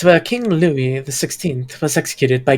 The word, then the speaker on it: Louis: de Concord it's working Louis the Lou Lou is it Lou yes you don't pronounce the S what why is it